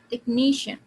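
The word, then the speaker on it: technician: और तो यहाँ पे किस पे स्ट्रेस जाएगा, द syllable before the ending. Ending क्या है आपका, शन. सो किस पे हुआ, टेक्नीशियन.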